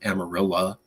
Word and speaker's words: Amarillo: you go to Amarillo spelled Amarillo but that's how they pronounce it you can go to